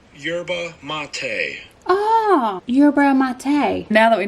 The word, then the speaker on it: yerba mate: hit list we need to know how to pronounce urban mate how to pronounce yerba mate urban mate now that we know how to